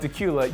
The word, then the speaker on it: Dacula: First, if you've never heard of Dacula, you'd better get the name right. It's spelled like Dracula, but without the R.